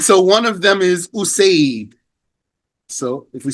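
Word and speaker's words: أُسَيْد: That's what's meant by spelled the same here, but pronounced differently because we have a dhamma on the first letter for the first word and a hamza on the first letter of the second word.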